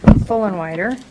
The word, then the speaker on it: Fullenwider: Well, my name's Fullenwider, and it's spelled wrong. It's always spelled wrong. I can't imagine. It's a catchy little name. You're full and wider, like after you eat, you're full and wider.